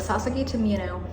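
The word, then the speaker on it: Sasaki to Miyano: First of all, Sasaki to Mino, oh my god, I don't know why I forgot how to say the name, but Sasaki to Mino, yes, Sasaki to Mino.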